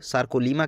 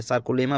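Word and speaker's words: sarcolemma: इस आवरण को हम लोग सार्कोलीमा के नाम से जानते हैं, या सार्कोलेमा भी इसको बोलते हैं, ठीक है। प्रोनाउंसिएशन में हम लोग सार्कोलेमा बोलते हैं, ठीक है।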